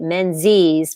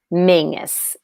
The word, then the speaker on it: Menzies: He's Scottish, but they pronounced his name the English way, Menzies, rather than the Scottish way, Mingus.